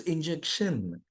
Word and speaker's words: injection: we quickly say Shan it is not sh it is sh it is shin s h n sh so it should be injection it's not injection it's injection from Tomorrow pronounce it correctly sir I have an